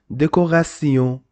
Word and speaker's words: décoration: The pronunciation is E, so you must pronounce this de, co. Why co? Why you don't say so? Because after the letter C, we don't have E, E, Y, so we must pronounce it co, and this is called deco. Ra, and T-E-O-N, T-E-O-N is called Sion, decoration, decoration.